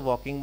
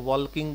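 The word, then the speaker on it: walking: Next वॉक, वॉक के साथ आईएनजी लगाओगे तो वॉकिंग बनेगा। कुछ स्टूडेंट्स को वॉल्किंग बोलते हैं, वॉल्किंग नहीं बोलेंगे, प्रोनाउंसिएशन अपना एग्जैक्ट रखिए।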